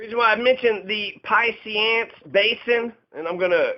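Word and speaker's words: Piceance: The reason why I mentioned the Pisceance Basin, and I'm going to Google it to be able to pronounce it. So the Piscean Basin, Piance. That's how the locals pronounce it.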